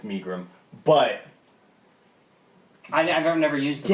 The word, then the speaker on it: Megrim: No, well, pronounce it right, it's Megrim.